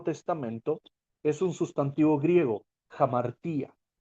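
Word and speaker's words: ἁμαρτία: Y la palabra principal que usa el Nuevo Testamento es un sustantivo griego, jamartía. Jamartía se escribe con H, pero su fonética es con J.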